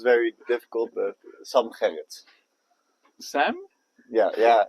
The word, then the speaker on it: Sam Gerrit: For a lot of people, it's very difficult, but Sam Gerrit. Sam? Yeah. In Dutch, we say Sam, Sam? and then Gerrit. Sam Gerrit.